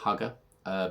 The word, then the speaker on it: Hwgga: Now, as you can see, Hwgga is obviously spelt different, but it is pronounced Hwgga because Andy has told me.